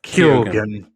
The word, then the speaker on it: Keoghan: To me, Barry Keoghan, how do you say that? Keoghan.